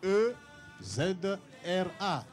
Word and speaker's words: Ezra: Mais c'est E-Z-R-A. Donc, et comment on le prononce? C'est Ezra. Ouais, c'est Ezra.